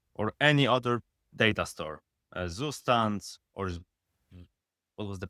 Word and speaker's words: Zustand: For example, if you use Redux or any other data store, Zustand, or what was the pronunciation for that? It's German. Zustand.